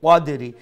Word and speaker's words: قدر: তো ও যে কদ্র ফি লাইলাতিল কদ্র, এরপরে যে লাইলাতুল কদরি, ও লেটা কফরে মুঠা করে উচ্চারণ করবা, যাতে ও যে মিন খুল্লি যে ছোটো কাফ মালাইকাতু ছোটো কাফ, এই ছোটো কাফলাখান যাতে উচ্চারণ না হয়।